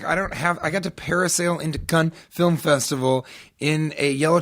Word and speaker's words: Cannes: I'm like, I got to parasail into Cannes Film Festival in a yellow tuxedo, and when I introduced the trailer for the Emoji Movie, the international trailer, the Hollywood Reporter was like, and he continually mispronounced Gun Film Festival, apparently saying gun over and over.